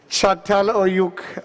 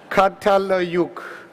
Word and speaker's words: Çatalhöyük: Çatalhöyük, I'm like my 4-year-old son trying to pronounce my grandfather's name. Çatalhöyük.